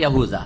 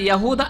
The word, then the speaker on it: ইয়াহুদা: বড় ছেলের নাম ছিল ইয়াহুদা বা ইয়াহুজা, জাল দাল কাছাকাছি উচ্চারণ। জি, তো ওই নামেই এদেরকে বলছেন যে লেনিসবাতিম ইলা ইয়াহুদা আকবর আওলাদি ইয়াকুব।